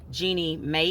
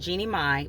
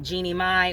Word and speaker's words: Jeannie Mai: Today, I want to talk about what a master manipulator Jeannie May is. Actually, I think it's pronounced Jeannie Mai, but I call her Jeannie May.